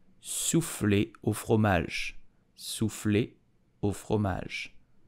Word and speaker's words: soufflé au fromage: How do you pronounce it in French? You will say soufflé au fromage. Soufflé au fromage. Soufflé au fromage. Soufflé au fromage.